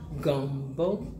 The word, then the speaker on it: Gumbo: See, she says I am not pronouncing gumbo right. It is gumbo. Gumbo.